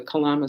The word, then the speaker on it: Kalama: You know, there's a sutra called the Kalama Sutra, which you can look up online. It's spelled just like it sounds, Kalama.